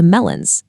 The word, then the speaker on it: melons: For the majority of nouns, the singular and plural forms are pronounced in exactly the same way. Melon sounds identical to melons. Gateau sounds identical to gateau. That final written letter is purely for the eyes, not the ears.